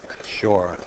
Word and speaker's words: Shaw: make sure I enunciate the Oh, it W, sounds like shore. S-U-R-E? Sounds that way? No, I Yeah. think it's shore, like We'll get Jayson over here.